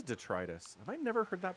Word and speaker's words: detritus: humans you pronounce vocabulary you pronounce it detrius I did detrus is it detritus yeah as far as I'm aware it's the trus okay I mean get Google to pronounce it for you yeah you're right it is detritus have I never heard